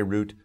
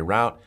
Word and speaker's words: route: very acceptable in american some americans say root some americans say route sometimes it depends on where they're from in america but both are perfectly